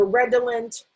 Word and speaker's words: redolent: all lent we um because it's an unaccented syllable um we might sometimes say red olive or red illint and when we say that it's because if this is an unaccented syllable it's a schwa so you might hear people say red ellent or red oh lint so redolent redolent and